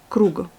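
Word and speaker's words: круг: Ensuite, le g il se retrouve à la fin du mot comme dans les mots ronds ou boués. En russe, c'est krug. Et vous avez encore le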